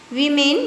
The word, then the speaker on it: women: मैन वीमेन, इसे वीमेन pronunciation किया जाता है, WOMEN यानी बहुवचन।